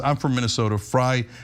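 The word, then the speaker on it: Frey: Fry is pronounced like French fry."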